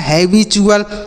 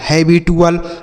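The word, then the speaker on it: habitual: तो टी यूएल को आपको क्या पढ़ना है? चुअल पढ़ना है। याद रहेगा ना? नहीं तो आप अगर यह याद नहीं रखेंगे तो कोई भी व्यक्ति होगा अगर उसे कह दे पढ़ना तो ऐसे ही पढ़ेगा। हैबिटुअल, वर्टुअल, मुअल ऐसे पढ़ेगा। लेकिन ऐसे आपको नहीं पढ़ना है। ठीक? आपको चुल पढ़ देना है।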